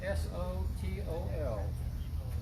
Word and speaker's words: Sotol: This guy, you can choose your pronunciation. That's a S-O-T-O-L.